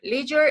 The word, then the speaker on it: leisure: And in England is leisure, something like that.